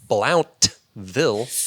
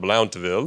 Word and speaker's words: Blountville: for being a scholar I don't even think we enunciate the V too much here just BL BL more